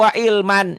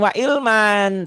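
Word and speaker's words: وعلما: Rahmatau wa ilman. Jangan wa ilman, tapi wa ilma.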